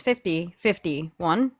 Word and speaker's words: 50501: It's 5051.